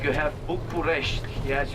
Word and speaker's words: București: Like you have București. Yes, you say Bucharest, but actually the locals are pronouncing București.